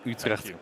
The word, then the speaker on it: Utrecht: Well pronounced, Leonard. You said Utrecht correctly.